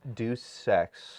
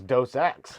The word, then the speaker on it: Deus Ex: De- That's my bad. Deus Ex. Yeah, I thought it was Dos Ex the whole time. Like the beer.